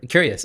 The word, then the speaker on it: Qureos: Would you mind describing or giving me the elevator pitch for curious? Am I pronouncing that correctly?